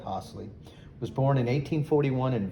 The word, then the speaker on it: Hossley: So Dennis S. Hossley, Hosley, I guess you would pronounce that Hossley, was born in 1841 in Vicksburg in Warren County, Mississippi.